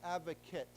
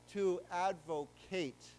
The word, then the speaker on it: advocate: So advocate as a person, remember we talked about this, is pronounced advocate, kit, okay? But if you, as a 动词, if you say I am advocating, then it becomes to advocate. Then the A becomes a long A.